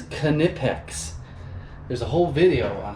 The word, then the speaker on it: Knipex: out for these one and the K is pronounced it is knipex there's a whole video